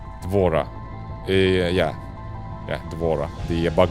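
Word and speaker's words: D'Vorah: have to Google that for now people okay devorah devorah yeah yeah devorah the bug lady okay I know I know that oh I accidentally closed the stream tab give me a sec devorah it's basically Mass Effect 3 is trying to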